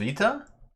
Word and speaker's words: Sveta: Is it Sveta? Okay. Longer accent is on E, not short E.